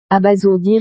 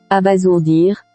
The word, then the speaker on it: abasourdir: Pourquoi n'a-t-on pas lu abasourdir? C'est parce que la règle dit que S placé entre deux voyelles se prononce ZE.